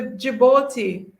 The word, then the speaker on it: Djibouti: anyone east africa okay the d is silent okay thank you it's in east africa it's the djibouti okay in east africa